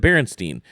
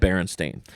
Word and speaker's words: Berenstain: It was just my teacher reading it to us, and she pronounced it Berenstein. And I guarantee you it said Berenstain. Right. It had an A.